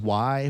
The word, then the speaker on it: way: um the utec yucatec maya area um it's pronounced y but it's w-a-y um they're like the nawali